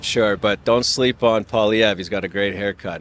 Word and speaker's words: Poilievre: I'm not sure, but don't sleep on Poilievre.